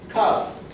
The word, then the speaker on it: cough: Cough. Remember, cough. Repeat, cough. Cough. Remember that cough, the G and the H is like the sound F.